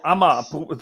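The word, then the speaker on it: Amager: however that came from ama uh well amma the amma brewery amaz is spelled a-m-a-g-e-r well that's danish for you okay beer it is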